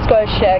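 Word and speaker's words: Schotia: like that yep righta it was the Scotia we pronounce it Scotia capitata the dwarf wor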